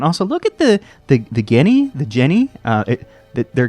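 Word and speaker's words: Ghini: of zelda franchise uh their names are spelled like g h i and i i'm not sure about the pronunciation i always say guinea because i don't feel like g like they're not genies so that's probably not right uh guinea is just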